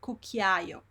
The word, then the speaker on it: cucchiaio: So you hear all the vowels here.